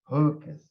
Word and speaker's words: Geukes: Professor Marije, and your last name pronounced? Geukes. Geukes.